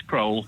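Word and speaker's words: Crowle: Phil's in, I don't know how you pronounce it, Crowell, is it, in Lincolnshire? Hello, Phil. Hi, yeah, it's Crowell.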